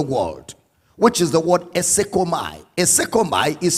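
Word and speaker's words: εἰσέρχομαι: The word entered into the world, which is the word esekomai. Esekomai is spelled as E-I-S-E-R-C-H-O-M-A-I. Esekomai.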